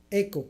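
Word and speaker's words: ἔχω: s Cómo se dice eco así se dice eco eco que significa poseer es un verbo posesivo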